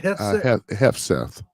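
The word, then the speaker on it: Hegseth: Hefseth.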